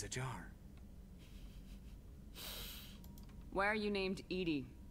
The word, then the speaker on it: EDI: Why are you named Edie? Edie is the phonetic pronunciation of EDI.